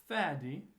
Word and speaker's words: Fady: And I said, listen, it is Fady, and it rhymes with daddy.